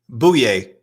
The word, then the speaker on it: Bouye: gonna put this on I put down the pronunciation on our sheet boo yay boo yay all right boy yay oh yay